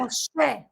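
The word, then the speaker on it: משה: Moshe, Moshe.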